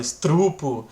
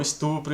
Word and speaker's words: estupro: pronúncia diferente né então a gente erra a gente fala estrupo em vez de falar o estupro e tudo mais mas